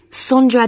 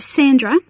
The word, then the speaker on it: Sondra: your name was again sondra is that sandra no it's spelt with an o so that's s-o-n d-r-a